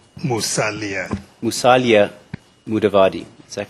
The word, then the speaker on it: Musalia Mudavadi: you then said musalia mudavadi is my pron pronunciation correct musalia musalia mudavadi is that correct yes your H mudavadi is